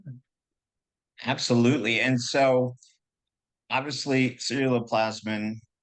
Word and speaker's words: ceruloplasmin: And so obviously ceruloplasmin, how do you say it? What's the correct pronunciation? Ceruloplasmin.